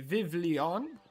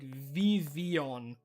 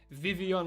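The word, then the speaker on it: Vivillon: Because I used to say Vivlion, but it's like Vivian or something, because it's French.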